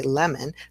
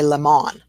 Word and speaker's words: lemon: Okay, so we have lemon, and our schwa in lemon is the O, and if we don't say lemon, then we say lemon.